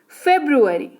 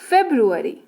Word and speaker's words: February: फरवरी। जी हाँ, सही सुना, यही उच्चारण होता है। फरवरी जो है वो हिंदी उच्चारण है, लेकिन इंग्लिश में भी लोग फरवरी ही बोलते हैं। That's wrong, it's फेब्रुअरी।